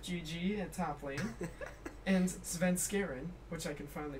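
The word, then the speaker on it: Svenskeren: support, Haunter Rip GG at top lane, and Sven Skaren, which I can finally pronounce properly.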